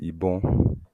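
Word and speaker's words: ibọn: the word for gun in Yoruba is ibon. Ibon. Ibon. Yes. Ibon. Yes. So is that How would you spell it? that would be IBON.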